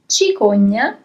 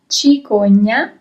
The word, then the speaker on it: cicogna: Here you have CI at the beginning of the word in English, so CI in Italian, and I remind you that the sound is always ch in this case. If there was an H,